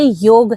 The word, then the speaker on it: योग: ये बताना चाहूंगी कि अगर हम इसको प्रोनाउंस करेंगे तो ये योग है जी। ठीक है। जब हम इसको इंग्लिश में लिखते हैं तो हमें इसको योगा लिखना होता है जी।